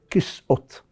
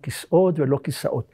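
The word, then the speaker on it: כסאות: We learned we should pronounce it "kis'ot" and not "kisaot".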